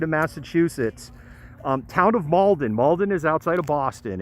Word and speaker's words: Malden: mask mauldin massachusetts right we say malden washington and massachusetts is kind of malden it's this it's just like one syllable hard to explain the